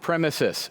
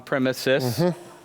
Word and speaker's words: premises: run Cloud native on premises yes I said it right premises thank you somebody says on premise that's not it's on premises not to get English